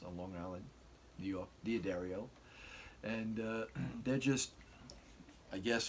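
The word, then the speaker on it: D'Addario: I do restring it, because these aren't the Diodario strings, that's how you pronounce it, by the way. I've been to the guy's warehouse on Long Island, New York, Diodario, and they're just, I guess for the price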